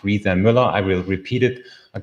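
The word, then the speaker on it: Riese & Müller: the brand name is coming from so it's pronounced Riza Miller I will repeat it a couple of times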